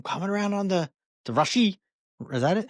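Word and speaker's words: Rashee: I'm coming around on the the Rashi. Is that it? How you say it? Rashi. It's like it's like no emphasis. No emphasis on on either's elbows like Rashi rice.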